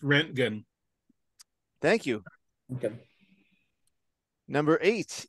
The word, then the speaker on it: Röntgen: Pronounced Röntgen.